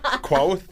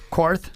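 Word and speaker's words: Qarth: Quoth? You were talking about the queef thing. I was. Quarth. Yeah, that's actually how it's pronounced, I think.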